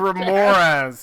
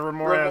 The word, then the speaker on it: Remorhaz: Wait, I couldn't pronounce it, so I just called it a razzmatazz. Your Razzmatazz. Yeah, a Remoraz. It's a Remoraz.